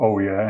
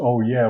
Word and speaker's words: Oujee: of northern america and the way how they pronounced oh yeah was very close to ouija you know the spirit